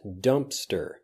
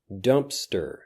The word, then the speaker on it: Dumpster: Next, dumpster. Dumpster. There is a P in this, but it basically disappears. Dumpster. Dumpster.